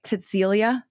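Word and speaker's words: Cäzilia: This is where Okay, so it's it's spelled C A Z I L I A, but it's like it's almost like Cecilia, but it's Cäcilia.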